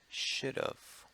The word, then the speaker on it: should've: it's spelled like this should've should've and that's how it sounds kind of sounds like you're saying should of using the Oh F of should of but it's really a